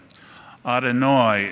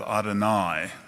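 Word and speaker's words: אדוני: i think about it my mother who grew up in baltimore still spoke hebrew with the older pronunciation think of any of your relatives from brooklyn otanoi instead of adonai shabas instead of shabbat mother and dad would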